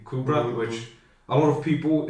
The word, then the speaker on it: Kubrat: above and below me, they'd mispronounced the name, but once they found out how you'd say my name, they just kind of stuck with it and called me when it's Kubrat, and it's an ongoing